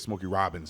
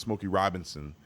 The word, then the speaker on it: Robinson: I said Smokey Robbins. It's Smokey Robinson.